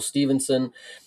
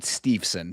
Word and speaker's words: Steveson: I've heard people I've heard people pronounce it Steveson, so I don't know if that if that is better for you or if that's more correct. But yeah, Steveson is how I've heard it pronounced and how I pronounce it.